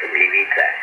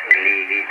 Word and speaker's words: Gliwice: My city is pronounced Gliwice, Gliwice.